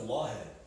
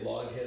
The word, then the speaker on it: Lawhead: It's pronounced lawhead. Oh, I never knew that. Yeah. But people say loghead or laughhead. I read it as laughhead. I always thought it was lawhead. Aww. It's lawhead, it's Scotch Irish.